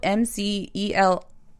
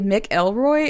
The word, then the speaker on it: McElroy: pain yes and also his name is spelled m-c-e-l-r-o-y but everyone says mcelroy like instead of mick and i always want to say mick elroy and it's mcelroy and he had to